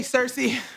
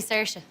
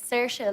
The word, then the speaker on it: Saoirse: Hey, Cersei. Have a great show. Thanks, Leslie, but it's actually Saoirse. Sushi? No, it's Saoirse, like inertia.